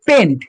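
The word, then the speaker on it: pent: পাঁচটা কার্বনের ফ্যামিলি যেটাকে বলে পেন্ট প্যান্ট বলবি না কেউ হেটে যায় না ঠিক আছে এটাকে বলে পেন্ট ওকে এবারে ছটা কার্বন ছটা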